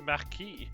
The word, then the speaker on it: Marquis: It's just Marquis.